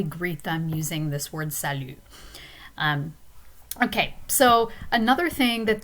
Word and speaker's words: salut: note is salu and you will notice that it is the very same mu sound so we need it not only for the pronoun to but also for the greeting the informal greeting salu so it's a way